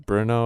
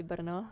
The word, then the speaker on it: Brno: It's like in Br- English you'd say in Brno or Brno. okay, In Brno. Czech, I would say Brno.